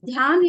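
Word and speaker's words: ध्यान: The term meditation, which is pronounced as Dhyan in Indian term, is usually defined as the concentration of thinking on a particular subject for a longer period.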